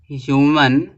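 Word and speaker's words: human: ह्यूमन being ह्यूमन में ह्यूमन ह्यूमन में आपका एच साउंड दे रहा है एच का साउंड निकल रहा है ना तो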